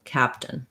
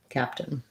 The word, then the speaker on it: captain: i would say that basically you don't do this vowel at all the you have if any vowel there's a little it or a schwa um but you go right to the n sound so the n functions as its own syllable captain captain uh and then your